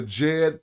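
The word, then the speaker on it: Djed: But this capital D is not said like a D. To pronounce it, you say it more like a J. So when we say the Jed pillar, do you even hear a D?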